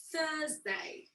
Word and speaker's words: Thursday: the fourth one is thursday thursday thursday so notice that i don't pronounce the r i don't say thursday